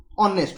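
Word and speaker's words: honest: लगै परबा ए लगेबा टोटल भूल धारणा देखो ऑनेस्ट ओके मत टी कह ऑनेस्ट जो वर्ड अच्छी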